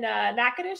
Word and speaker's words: Natchitoches: From the house in Tallahassee, she's moved to the one in Natchitoches.